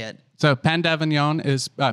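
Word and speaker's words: pain d'avignon: because i love how you say it so pandavanyon is uh p a i n p pain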